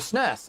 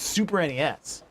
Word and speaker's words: SNES: the Kirby on the SNES. And that like was the first time I ever heard SNES, and I got mad. I was like, no, that's not how you say it. It's Super NES.